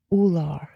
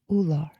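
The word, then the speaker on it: Ullr: In my Norse deck here, you pulled Ular. That's how it's pronounced, Ular.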